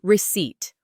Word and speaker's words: receipt: And Alex gave Emma a receipt. R-E-C-E-I-P-T. The P is silent.